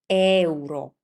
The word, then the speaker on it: euro: This is not euro. This is euro. Euro. So, the key here here is to pronounce the e and u like they were self-standing.